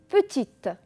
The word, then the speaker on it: petit: par exemple le mot petit d'accord regardez bien ce bon petit le eux ne se prononcent pas c'est un e muet on a aussi grande